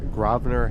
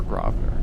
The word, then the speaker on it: Grosvenor: But the one thing that there is a consensus on is that you do not pronounce that S. It's grow or Grosvenor.